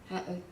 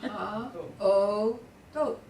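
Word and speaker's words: האותות: Ha'ot, isn't it ha'ot? Ha-o-tot. Ha'otot, oh, okay, ha'otot.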